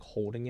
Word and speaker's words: HODL: And it's funny because like learning some of this stuff, like there's called like holding it, but it's spelled like HODL.